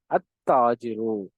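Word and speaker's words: التاجر: அல் தாஜிருன்னு சொல்லாம அத்தாஜிரு. புரிஞ்சுதா?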